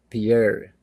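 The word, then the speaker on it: Pierre: in South Dakota and this is Pier guess that's how they pronounce it 4.0 1911 was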